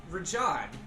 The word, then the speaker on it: Raja: Like the tiger from Aladdin. Raja. Rahad was the other one, right? That we were- Rahad was the other one with the goatee. Yeah, Raja.